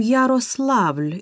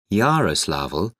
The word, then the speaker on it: Yaroslavl: e n c h three we are from yaroslavl in russia yaroslavl how do you spell that y a r o s l a